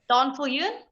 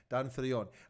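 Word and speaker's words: Daan Viljoen: How do you pronounce that? Donfiljoen? Well, there you go. That's very good pronunciation, by the way. Donfiljoen.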